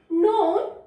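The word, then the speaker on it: known: पढ़ते हैं न, मैंने आपको बताया था हमारा कि के और एन जो है वो एन की साउंड देता है, न की साउंड देता है, सॉरी। और इसमें के हमारा क्या होता है, वो साइलेंट होता है और न की साउंड रहती है इसमें खाली न। ओ नोन, या फिर पढ़े न ओन नोन, एक ही बात है ना बेटा।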